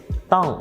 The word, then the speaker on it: ต้อง: or ท.ทหาร sound, but the common problem with the students who speak english as the first language is that they tend to mispronounce this /dt/ and pronounce it /d/ or ด.เด็ก instead.